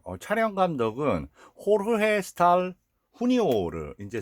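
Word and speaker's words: Jorge Stahl Jr.: 그리고 여기 이제 그 촬영 감독은 호르헤 스탈 후니오르, 이제 스페인어는 이제 J 발음을 히읗 발음을 하니까요.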